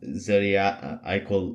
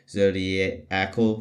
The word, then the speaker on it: zodiacal: emitted by zodiac uh zodiac IAL light I believe that's how you say it zodia zodiacal light yeah zodiacal light and basically